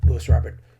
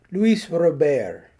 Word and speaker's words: Luis Robert: few years ago when everyone was calling Lewis Robert Luis Robert so I was guilty